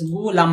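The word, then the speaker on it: غلام: नहीं, गुलाम का जो सही प्रोनाउंसिएशन होता है वो है गैन पेश गु लाम अलिफ लाम मीम, गुलाम। सही जवाब हो जाएगा ऑप्शन 4।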